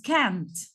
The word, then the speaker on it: can't: Cuando pronunciamos el negativo, tenemos que alargar el sonido de la A. Entonces no decimos can, decimos can't. Can't. Lo alargamos.